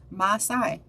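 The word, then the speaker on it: Maasai: about that uh still oh there we go pronunciation Masai so I think I was pronouncing it right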